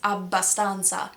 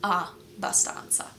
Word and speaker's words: Abbondanza: You're really putting effort into that double sound. I've heard some people explain it as having the consonant be at the end of the first syllable and at the beginning of the second one. So, if it's ab- ba- stan- za, it's ab- ba- stan- za, rather than a- ba- stan- za.